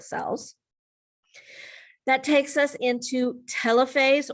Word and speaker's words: telophase: That takes us into telophase or sometimes is pronounced tilophase but and cytochinesis.